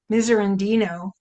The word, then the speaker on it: Miserandino: Miserandino, according to Christine's story, then you have to rest up until you get more spoons in your silverware drawer.